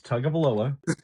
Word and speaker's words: Tagovailoa: It's Tagovailoa. Tagovailoa.